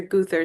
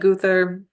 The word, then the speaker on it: Gowther: but I've always said gother I think that's kind of a middle English pronunciation is and I must